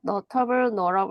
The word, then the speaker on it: notable: 볼까요 notable destinations네 그죠 notable 묵음이 되죠 앞뒤로 모음이 있으니까네 이것들을 포함한다고 합니다 이렇게